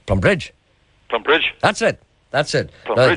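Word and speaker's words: Plumbridge: Now, see, the accent, you can't wait to get to the bridge. So the plum is very quick. Plum Bridge.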